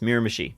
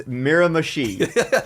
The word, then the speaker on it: Miramichi: Just before you go on, I'm pretty sure it is Miramichi. Okay, Miramichi. Okay, that's how it's pronounced. Miramichi.